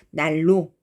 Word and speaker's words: 난로: 난로 이렇게 쓰지만 난로 이렇게 발음하지 않고 날로 이렇게 르로 바꿔서 발음해요.